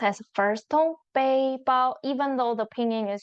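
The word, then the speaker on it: 背包: So we pronounce it first tone.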